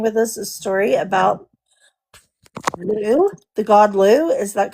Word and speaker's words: Lugh: I'm trying to pronounce it right, so it's kind Lu. of like Lu. talking a loogie.